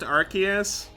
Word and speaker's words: Arceus: It's pronounced Arceus.